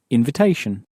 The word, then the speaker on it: invitation: bit trickier to pronounce because the in at the beginning has that sort of sulky teenager sound that's pronounced. Un. So how would you say again invitation?